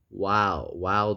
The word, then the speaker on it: Olivia Wilde: Oh, so he's been dating Olivia Wilde. The E is silent. Wild. Olivia. How do you know that? It could be No Wildy.